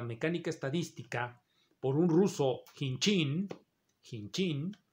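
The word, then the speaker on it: Khinchin: estadística por un ruso kim jin kim jin se escribe en jim pero se h pero se pronuncia sin chin chin chin ese señor jean chin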